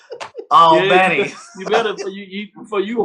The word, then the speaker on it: Albany: I gotta pronounce it right. Albany.